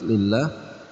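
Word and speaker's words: لله: Hukum bacaan tarqiq juga terdapat pada kalimat lillah karena didahului dengan huruf hijaiyah. Lam berharokat kasrah. Nah, di sini ada huruf lam pada lafzul jalalah kasrah, ya. Maka dibacanya tarqiq atau tipis lillah.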